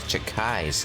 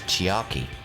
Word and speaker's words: Chiaki: isn't that right Gia oh I pronounce that chakai's chiaki oh you're right these